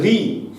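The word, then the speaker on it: ঋ: মিশ্র স্বর, কারণ না এই রি যখন আমরা উচ্চারণ করি আমরা কিন্তু রি উচ্চারণ করি না, আমরা আসলে উচ্চারণ করি হচ্ছে র যোগ ই, অর্থাৎ আমরা র ব্যঞ্জন ধ্বনির সঙ্গে ই ধ্বনিকে নিয়ে উচ্চারণ করি।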